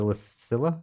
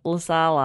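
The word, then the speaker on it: Lassila: Lasala, and I said it wrong Lassala. On the show. Lassala. I think it's Lasala. So yeah, she told me after we stopped recording that I'd been saying it wrong.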